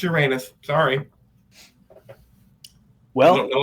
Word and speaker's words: Uranus: BJ, let me see if Pluto and Neptune are aligned with Uranus.